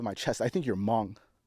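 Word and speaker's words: Hmong: I think you're Mong. That's the one. Okay. Okay. All right. All right. Hm. But it's actually pronounced Mong, right? Oh, yes. H is silent.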